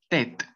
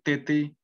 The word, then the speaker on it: tête: La tercera palabra sería tête, tête. Así no tienen que decir tete o alguna otra palabra. Entonces simplemente la E que va a sonar va a ser la abierta, ¿sí?